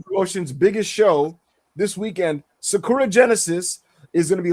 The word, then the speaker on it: Sakura: Yes, it's pronounced Sakura, bro. But you know that's not how Americans say that shit.